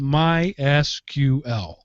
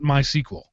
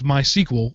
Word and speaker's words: MySQL: am so here goes the official way to pronounce mysql is mysql not mysql but we don't mind if you pronounce it as mysql or in some other localized way these are the